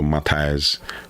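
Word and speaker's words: Matjaž: The name is spelled M A T J Z. So Matias Matias Matias Kek.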